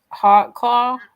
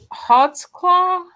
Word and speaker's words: Holtzclaw: was yes it was hot Claw at the time I didn't know how to say it and you still how would you say it h Hots claw hot CL hot claw okay uh when the